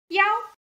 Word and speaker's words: 腰: 腰. Look, we have four tongues in Chinese. 1, 2, 3, 4. This one is the first one. So you must read it higher. 腰. 腰.